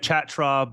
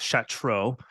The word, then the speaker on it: Chatraw: enough to tell us how it was actually pronounced it looks like chat tribe but it's Chateau he's the Billy Graham chair of evangelism I